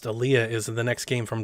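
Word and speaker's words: Olija: aaliyah which is spelled elijah but it is pronounced aliyah is the next game from devolver and it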